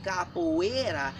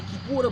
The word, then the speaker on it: Kipura: African fighting system that was mispronounced as Capoeira in the year 1712 by Rafael Bluto. Rafael was trying to say Kipura, but he spoke Portuguese, and the Capoeira is as close as you can get.